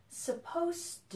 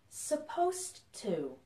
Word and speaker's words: supposed to: like a Z and in this one the S sounds like an S so we have suppose and supposed to okay so there's a